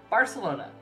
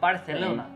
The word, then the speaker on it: Barcelona: uh Latin Spanish um they pronounce it as an S so like it so like Barcelona Barcelona you would pronounce